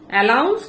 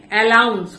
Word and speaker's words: অ্যানাউন্স: করেছে এবং বলছে যে অ্যালাউন্স, কথাটা কিন্তু অ্যালাউন্স নয়, কথাটা হচ্ছে অ্যানাউন্স।